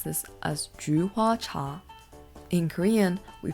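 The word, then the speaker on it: 菊花茶: In Chinese, we pronounce this as juhua cha.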